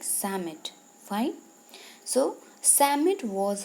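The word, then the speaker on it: Psammead: is silent you okay that's why it is pronounced like summit fine so Sam it was a sand fairy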